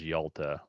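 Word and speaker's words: Hjalte: talking about it's y I do not see how that is pronounced as Yalta but I'll I'll I'll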